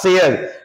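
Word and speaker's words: share: dear this इ नॉट शेयर शेयर इस आर को भी हम लोग साइलेंट करेंगे और इस आर की जगह पे हम लोग अ को पढ़ेंगे दिस इ शेयर शेम अच्छा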